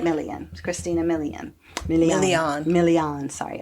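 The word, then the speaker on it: Milian: Millian Christina Millian.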